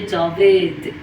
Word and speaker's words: جاوید: جاوید رو ما در فارسی میگیم، در اردو میشه جاوید.